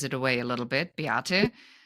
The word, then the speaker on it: Beate: And my name, I think, gives it away a little bit, Beate. If you say it like my mother, it'll be like you're yelling at me. It'll Yeah. be Beate.